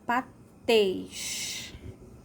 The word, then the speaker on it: patês: Agora a palavra patês. Patês. O som é fechado, né? Então, o som fechado vai ficar o acento circunflexo. E tês é a sílaba mais forte, é a sílaba tônica.